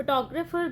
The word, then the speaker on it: photographer: In the word photograph, where does the primary stress fall? The answer is first syllable photograph ਦੇ ਵਿੱਚ। photographer ਦੇ ਵਿੱਚ second ਵਾਲੇ ਤੇ ਆਏਗਾ, photograph ਦੇ ਵਿੱਚ first ਤੇ ਆਏਗਾ, photographer ਦੇ ਵਿੱਚ second ਵਿੱਚ ਆਏਗਾ।